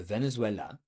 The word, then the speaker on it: Venezuela: Okay, so le Venezuela, so see how my stress is at the last syllable?